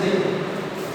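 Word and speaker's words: the: দাটা হবে যদি কোনো একটা ওয়ার্ডের প্রথম লেটার কনসোনেন্ট থাকে আর উচ্চারণটা দা বলবো।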